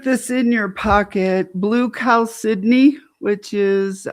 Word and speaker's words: chalcedony: agate, but a blue chalcedony and it looks like chalcedony, but it's c h a l d e c o n e y or y. Um, but blue chalcedony pronounce it like Sydney, Australia.